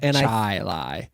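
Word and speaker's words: Chili: way like c h i l a i chai Li and I think it's ruined our uh our pronunciation our the way we assume things are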